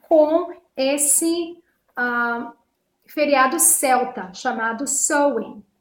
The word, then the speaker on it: Samhain: Então, muitos historiadores acreditam que Halloween tenha sido originado, né, com esse feriado celta chamado Samhain. Embora a gente escreva S-A-M-H-A-I-N, a pronúncia é Samhain, não é Samhain, é Samhain. E é um feriado celta